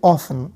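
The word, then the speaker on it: often: দেখতে পাচ্ছি যে হাউ অফেন হাউ অফেন মানে হচ্ছে কতবার কতবার হাউ অফেন এটাকে অনেকে হাউ অফটেনও বলে তো টি টা নরমালি হচ্ছে সাইলেন্ট থাকে তো এজন্য তুমি অফেন বলতে পারো হাউ অফন অর্থাৎ কতবার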